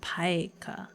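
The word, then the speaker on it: pica: Pronounced paika.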